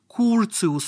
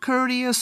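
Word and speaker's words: Curtius: remember it once and for all it is pronounced cus rearrangement not courteous or anything of that sort Theodor cus was a German chemist who discovered this reaction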